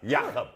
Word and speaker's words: Jakob: We don't pronounce the J over there? No, we don't know J's. They're Y's. Jakob. Yeah, Jakob. So, dude, like I said, muscle in his forehead.